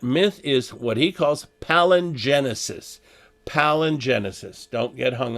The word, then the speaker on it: palingenesis: uh and that myth is what he calls palingenesis palin genesis don't get hung up here but